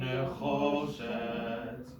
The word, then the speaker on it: nechoshet: Okay, so ve'adnehem nechoshet. Yeah, making sure to put the accent on the cho, right? Because that's where the trope is.